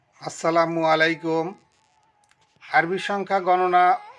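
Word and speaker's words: أربعة: আরবি সংখ্যা গণনা ও 7 দিনের নাম এবং ছোট আরবি শব্দ মিলিয়ে কথা বলার চেষ্টা করব ইনশাআল্লাহ।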